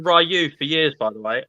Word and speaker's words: Ryu: So it's actually Ryu if you listen to the game.